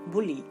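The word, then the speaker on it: bully: তবে উই বা মি এগুলোর ক্ষেত্রে উচ্চারণ হবে। নেক্সট উদাহরণ দেখুন, বি ইউ এল এল ওয়াই, বুলি।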